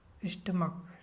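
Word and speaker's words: stomach: Letter C एच हो तो सी एच का उच्चारण क होता है और सिर्फ यह जोड़कर प्लूरल बनाते हैं। ठीक है, ये रूल इम्पोर्टेंट है। जैसे स्टमक, ठीक है, एस टी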